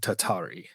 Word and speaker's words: tatari: And yes, those words were, correct me if I mispronounce them, noroi and tatari.